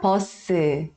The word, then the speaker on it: 버스: E aí, todas as palavras que terminam em S no final, a gente vai acrescentar a vogal U, e aí fica posso, ao invés de falar bus. Você vai pronunciar como se tivesse duas sílabas, tá?